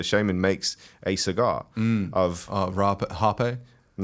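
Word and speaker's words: rapé: a purging method so it's spelled r-a-p-e okay Harpe that's what the pronunciation is Harper but it's spelled rape like and uh and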